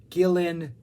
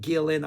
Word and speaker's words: Gillan: d purple lineup uh Blackmore Glover Pace Gillian Gillan Gillen Gillan I always pronounce that wrong and I always get corrected in the comments I am sorry us Americans do not know how to pronounce words Gillan and uh Lord uh fantastic yeah there's like